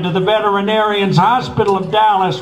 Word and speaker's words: Dallas: the veterinarians Hospital of Dallas rhymes with callus Texas for an emergency